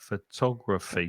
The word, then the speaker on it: photography: Photography. 4, isn't it? 4 syllables. Photography. Mm-hmm. And we're stressing the second syllable.